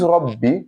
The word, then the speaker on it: Rabbi: So for this Rabbi, this is what is actually there. Ra, ba, and ba. Ba with sukun and ba with kasra. Rabbi.